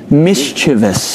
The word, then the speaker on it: mischievous: right mischievous mischievous wow Clayton you're incorrect it's mischievous wow often hear people yes